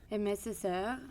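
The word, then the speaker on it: Aimé Césaire: And again, I'm not sure if I'm going to pronounce this right, but Amié Césaire? Amié Césaire.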